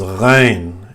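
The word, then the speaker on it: غين: in the middle, and ghain comes back to the top of the throat, where which you used to say kha. So the same is ghain, gha, gha. You can feel it here, gha. As you do gargles in the morning, gha. It's the same, gha. This sound is there in French, as I know.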